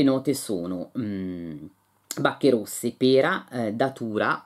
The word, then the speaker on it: Datura: sono bacche rosse pera Datura o Datura Datura dovrebbe essere perché l'accento non è sula che ho scoperto essere